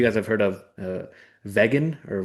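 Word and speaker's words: Vegyn: know if you guys have heard of uh Vegan or Vegan. It's spelled like V E G Y N.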